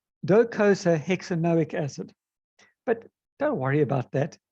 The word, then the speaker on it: docosahexaenoic acid: If you really want to know how you pronounce it, it's docosahexaenoic acid.